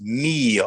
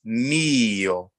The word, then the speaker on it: mio: And when you say mio, the stress is on the first syllable. So it's mio. It's not mio, and it's not mio. It's mio.